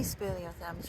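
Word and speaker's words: speleothem: looking for blue green spalio thins is that how you pronounce it yes so we're looking at um any spalio thms really so these are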